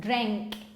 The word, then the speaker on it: drank: Well, that's how you spell it, but when you pronounce it, drank. Drank. You write with an A, but you pronounce it with an E.